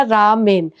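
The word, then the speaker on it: ラーメン: नाम रखा रामेन actually नाम तो था ला मियान लेकिन इनके में ल साउंड शायद होती नहीं है तो वो प्रोनाउंसिएशन में ऐसे बन गया रामेन और जापान की अब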